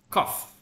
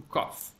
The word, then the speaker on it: cough: Okay, you should say this like cough. Like a coffee. Yeah, like coffee, yes. Cough. Cough and coffee.